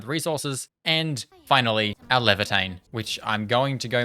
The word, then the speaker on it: Laevatain: And finally, our Levitane, which I'm going to go make sure I am pronouncing her name right. Lavatane. Lavitane.